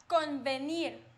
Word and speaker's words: convenir: But when it's in the middle, for example, when I say convenir. Convenir. Because it's next to an N, this sound is softer.